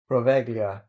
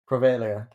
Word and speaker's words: Poveglia: Poveglia. No, the G is silent. Poveglia. Poveglia.